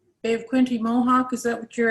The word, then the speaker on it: Bay of Quinte: Shelley, so if you could begin first by just correcting me, can you pronounce that name correctly? Bay of Quinte Mohawk, is that what you're asking about?